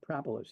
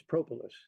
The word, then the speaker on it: propolis: antibacterial antifungal antiviral yeah did I say it wrong you said propolis it's propolis thank you propis Pro all